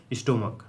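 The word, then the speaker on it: stomach: ठीक है, यदि सी एच की उच्चारण क हो तो एस लगाकर बहुवचन बनाते हैं। अगर क हो तो एस लगाकर बहुवचन बनाते हैं। जैसे स्टोमक, स्टोमक क आ गया, क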